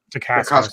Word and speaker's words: Dacascos: And that was a great big surprise that Mark Dacascos, is that how you say it? Dacascos, yeah.